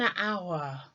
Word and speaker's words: hour: the letter H but the letter H is a silent letter as in when we're talking about time and we say power I will meet you in an hour and you notice that